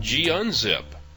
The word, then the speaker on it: gunzip: zip and g unzip sometimes it's hard to know how to pronounce these things i've also heard them call gazip and gunzip and that's more like the gnu tradition of pronouncing things i'm just going to call them g-zip and g-unzip and let you sort it out these utilities work more